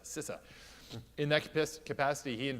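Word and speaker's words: CISA: and infrastructure security agency properly pronounced sisse I believe not CSIS sisse in that capacity he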